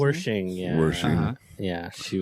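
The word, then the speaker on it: Wersching: Yeah, Annie, how did you pronounce her last name? Wershing, yeah.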